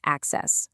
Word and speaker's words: AHCCCS: Okay, so AHCCS, and a quick heads up, you pronounce that access like you're gaining access to healthare.